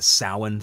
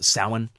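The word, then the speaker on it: Samhain: themselves and they want to say it's the Souren thing si ma che i n but in sort of Gaelic it's pronounced salan it's it's it looks but it's pronounced salan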